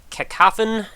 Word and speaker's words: Cacophon: be checking out I'm going to go with kofen probably the best way to go with that pronunciation obviously short for cacophony by developer dator uh